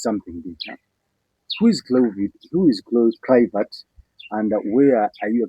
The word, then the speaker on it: Kluivert: Simon, the name is Kluivert. Kluivert. Not Kluivert. Because it's Kluivert. Yes, it's Kluivert.